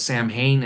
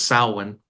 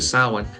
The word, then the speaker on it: Samhain: They refer to it as Samhain. Actually, the pronunciation is Samhain. Funnily enough, I don't know if Donald Pleasance fought with anybody over that, but ultimately they went with the phonetic pronunciation. It's actually Samhain, which would crop back